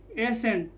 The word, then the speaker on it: ascent: यहाँ पर देखिए ASCENT, एसेंट, तो क्या हो जाएगा? ए सेट। सी का उच्चारण नहीं होगा तो क्या हो जाएगा? ए सेंट, ए सेंट।